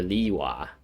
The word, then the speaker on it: Liyue: other inventions here in lyua yeah like she says li you are or liwa leewa for some reason when it's like not spelt that way but then a lot